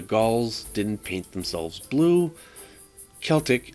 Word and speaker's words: Celtic: didn't paint themselves blue celtic is pronounced with a hard k not an s looking at you boston